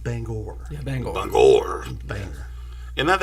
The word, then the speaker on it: Bangor: flew from dc to banger um and hung out in maine i'm sorry it's pronounced bangor yeah bangalore banger is